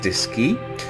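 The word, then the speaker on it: DSKY: wire so at the display keyboard pronounced disk key located on mvc2 yeah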